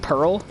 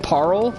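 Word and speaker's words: Paarl: to fight parl see everyone pronounces his name dark Beast Pearl but it's spelled with two A's like parl not Pearl which is why I've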